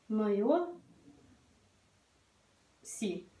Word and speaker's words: noiosi: Noio. Si. S между гласными произносится звонко.